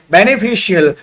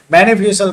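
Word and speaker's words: beneficial: ए एन है तो ब्यूटिशियन, तो यहाँ पर उच्चारण क्या हो रहा, तलेबस्सा हो रहा। उसी तरह से बेनिफिशियल, बेनिफिशियल का मतलब ये होता है, यहाँ पर भी क्या हो रहा, श ही हो रहा।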